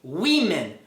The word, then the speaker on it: women: Em português é óbvio, mas em inglês é woman e women.